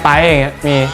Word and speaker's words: Bright: انهم ينادونني "" بدلا من "برايت" احيانا في الكثير من الأحيان, في الواقع ولدت في يوم السبت في 27 من ديسيمبر, 1997 (ماهو برجك الصيني؟)